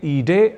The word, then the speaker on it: ईडे: हमें ईडे ऐसा ही शुद्ध प्रयोग करना चाहिए।